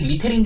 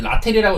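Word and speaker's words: Littell: 템파베이 대 천사 저는 아까부터 천사를 좀 좋게 본다고 했었는데 일단은 잭 라텔 이 친구가 전 잭 리텔인 줄 알았는데 라텔이라고 읽는 게 맞다고 하더라고요.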